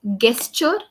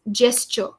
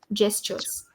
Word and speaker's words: gesture: So let's start with the pronunciation. It's not gesture, it's gesture. Even though the word starts with the ge, we pronounce it as jaw. Gestures.